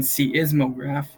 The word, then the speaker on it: seismograph: pay attention to so the fact that this e is silent is something that we want to remember so by saying C is mograph we remember it so